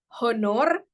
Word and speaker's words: honor: So the way to pronounce the word honor itu honor.